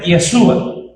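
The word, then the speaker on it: ישוע: Jesús es un nombre propio, que como dije, él hace esas eh diferencias y en hebreo este nombre se pronuncia Yesua, que traducido a nuestro lenguaje el español es Jesús.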